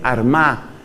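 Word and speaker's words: Armagh: de San Patricio fue Armada que se escribe con gh al final San Patricio desde la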